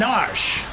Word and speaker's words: Narshe: lead guards well defend narshe I was pronouncing our Shi as a kid because I didn't get